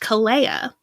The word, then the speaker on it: Kalia: k a l EA which in the English would be like okay Kalia but in Hawaiian it's actually pronounced CA which has a whole another set of meanings a whole another everything